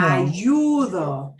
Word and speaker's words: ayudo: Ayudo. Right. We punch the U sound.